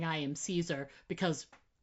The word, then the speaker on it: Caesar: I love it too because I you're such a nice person for actually saying I am Caesar because really really Kaiser is what you should be saying.